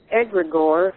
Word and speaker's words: egregore: you were talking about egregore that's how you pronounce it I was thinking in